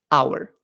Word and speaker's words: hour: muchas ocasiones en inglés la H es muda Hour an Hour una hora una actividad fácil